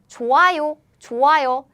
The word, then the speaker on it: 좋아요: We pronounce it like 좋아요. This one is 좋아요. But Korean sound is very weak, so when it's used as a 받침, is gone. The sound disappears because Korean sound is weak again.